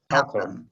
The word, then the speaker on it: Halcomb: Is that pronounced correct? Halcomb.